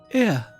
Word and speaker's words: Ea: When the vibration of vocal folds was still required to convey our thoughts and intention, ear, I believe, was the pronunciation used when referring to our people.